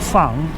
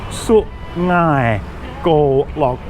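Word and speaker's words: Su-ngai Kolok: It's not sung, it's su ngai go log.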